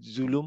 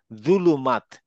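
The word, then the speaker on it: ظلم: জুলুম আসলে জুলুম না কারণ আমরা ওই যে অক্ষরটা উচ্চারণ করি তো ভুল উচ্চারণ করি এটা হচ্ছে জুলুম জুলুমাত এই জুলুমাত থেকে জুলুমা জুলুমিন সব এই জুলু এটা দ এর সাথে মুখটা গোল হবে জীবটা বের হয়ে আসবে জুলুমাত জুলুমাত জুলুমাত জুলুমাত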